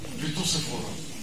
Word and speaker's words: Séphora: de Moïse, qui s'appelle Séphora, si je bien compris. Séphora. Séphora Ou Séphora. Plutôt Séphora. Parce que parfois un nom est écrit par Z et ça se prononce S.